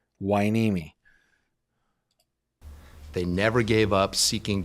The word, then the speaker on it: Hueneme: Hueneme, which seems like the strangest way to pronounce it, but okay, Hueneme.